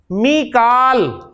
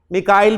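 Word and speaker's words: ميكال: मीकाल, कुरान में मीकाल का है, मिकाइल भी प्रोनाउंसिएशन है इसकी, तो मीकालू, मीकाला, मीकाला।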